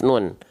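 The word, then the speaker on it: ن: nih ini namanya huruf nun ya Nun dilafalkan persis seperti kita melafalkan huruf N pada abjad alfabet selesai nunnya dalam kondisi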